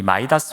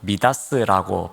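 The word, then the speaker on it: Midas: 우리가 그리스 신화를 읽다 보면은 이 마이다스 왕 이야기가 나옵니다. 혹은 미다스라고 발음하기도 하는데 이 왕이 목욕했다고 하는 강이 있는데 그 강이 바로 이 사대에 있습니다.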